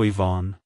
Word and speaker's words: Yvonne: to pronounce it correctly emphasize the e sound at the beginning and the on sound at the end like hello Ivonne goodbye Ivon if you